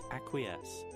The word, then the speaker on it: acquiesce: s acquies aqui esse what does google say acquiesce acquiesce yeah there's no n acquiesce get a